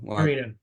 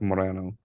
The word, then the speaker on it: Moreno: right uh Marino Morano Marino okay yeah in the South pretty much everyone says Marino so um that's pretty much the way I grew up saying it even though it's correctly pronounced like Morano but all right sounds